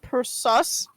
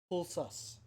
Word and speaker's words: Pulsus: De Regno Pulsus. The Regno Persus? Pulsus. P-U-L-S.